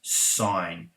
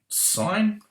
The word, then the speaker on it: sine: right and so was sine so what i'm going to do i'm going to write sine remember we only write it as sin short abbreviation but we pronounce it as sine so sine in brackets